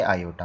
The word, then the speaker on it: iota: i read नहीं करना बल्कि आपने क्या लिखना है? उसको किस तरह से प्रोनाउंस करना है? आयोटा प्रोनाउंस करना है।